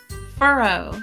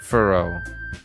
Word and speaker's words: furrow: f is that not you're probably put emphasis on the first syllable okay f f Furrow Furrow there we go what how does my